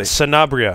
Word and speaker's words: Sanabria: you did pronounce it correctly I did not pronounce your last name Surround Sanabria sanabria Sanabria and I never give people a